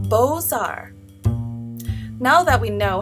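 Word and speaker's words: Beaux-Arts: movement that originated from France how do you pronounce it let's see B Ox art yeah no h books Arts H closer how about bow Arts get in there getting there do you give up it's pronounced boar now that we know how to say it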